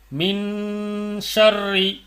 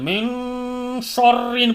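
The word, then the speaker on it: مِن شَرِّ: சேர்த்து ஓதணும் எப்படி அப்படின்னா மின் ஷர்ரி இங்க என்ன பண்ணக்கூடாது மின் ஷர்ன்னு படிக்கக்கூடாது மின் ஷர்ரி யுன் யுன் அப்படின்னு அழுத்தாம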